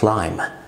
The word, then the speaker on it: climb: اول حاله معانا النهارده لما الام في الانجليش تبقى جايه بعدها بي، ساعتها البي بتبقى سايلنت في الانجليش. مفيش حاجه في الانجليش اسمها climb اسمها climb، مفيش حاجه اسمها متسلق climber اسمها climber، مفيش حاجه اسمها plumber اسمها plumber، وهكذا.